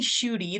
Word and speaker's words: Schuette: um my name is shooty that's how you pronounce that last name um and I've been